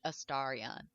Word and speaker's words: Astarion: And everyone loves Astarion, Mm-hmm. however you say his name. All the characters say his name differently. He says it Astarion.